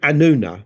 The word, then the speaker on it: Anunna: But the word he used wasn't Anunnaki; he used the word Anuna, which is spelled Anunna, generally, they're variations of it. This is the Sumerian form of the word Anunnaki, the original form of it.